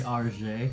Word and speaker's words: Argent: It's actually Argent. RJ. Argent. Tarjay. It is Right. not RJ, it is Argent. Oh, dear. Be my it- shield. It means silver in French.